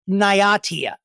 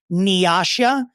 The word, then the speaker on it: Niatia: I believe it's Nyatia. That is how the Google is telling me. It's Nyatia. The way that it's spelled is Niatia. And it looks like it could, in some other universe, be pronounced Nyasha. But according phonetically to the Googs, it is Nyatia.